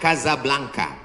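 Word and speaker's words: Casablanca: Ibu kotanya tulisannya Casa Blanca. Cara bacanya Kazablanka.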